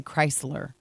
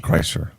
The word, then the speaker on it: Kreischer: Kreischer. We You- have some Bert Kreischer tickets. You always want to say Chrysler, like Chrysler, the car. yeah, That's no, what you keep saying. Kreischer.